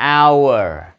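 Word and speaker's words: hour: đó các bạn là nó không phát âm chữ H đâu nha các bạn chữ H công cho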